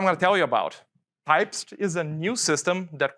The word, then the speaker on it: Typst: So what's Typst? The first thing is it's a weird way to pronounce it, but it's on their website. I used to say Typist.